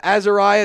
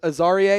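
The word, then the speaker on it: Azareye'h: Uh, Azariah Thomas, the corner out of Florida State, or Aaria is actually how you pronounce it.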